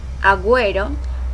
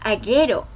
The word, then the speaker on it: agüero: Consiste en dos pequeños puntos colocados sobre la letra U con la finalidad de que se pronuncie la vocal U. Ejemplo, agüero, agüista, agüita. Si no tuviera las diéresis, dijéramos aguero, aguista y aguita.